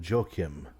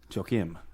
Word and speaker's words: Joachim: not ASL his name is spelled Joachim but they call him jokim jokim wow what come on